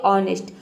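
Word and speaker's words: honest: देख सकते हैं कि एच के बाद ओ आया है यहां पे एच लेटर साइलेंट है ओ को हम औ पढे प्रोनाउंस करेंगे इसमें और एन ई एस टी ये हो जाएगा नेस्ट पूरा हो जाएगा ऑनेस्ट ऑनेस्ट मतलब होता है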